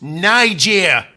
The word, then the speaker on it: Nigeria: africa visited sodor what gordon their country is pronounced nigeria oh whoops